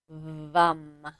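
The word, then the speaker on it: Vam: So let's go ahead and do a little bit of chanting of the vum. Vum. So it's spelled va m but pronounced vum like v u m.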